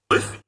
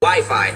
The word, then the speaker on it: Wi-Fi: Wiffy. Wifey? Well, it's either wiffle ball or an arranged marriage game. It's actually pronounced Wi-Fi, Ralph.